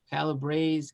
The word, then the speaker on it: Calabrese: is calabrese is the way you say calabre calabrese calabro calabresa is the italian pronunciation the word derives from the fact that